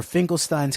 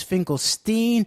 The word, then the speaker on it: Finkelstein: friendship I asked him whether it was Finkelstein or Finkelstein with a long I and Arthur characteristically replied quote if I was a poor Jew it would be Finkelstein but since I am a rich Jew its Finkelstein unquote he'd plucked me out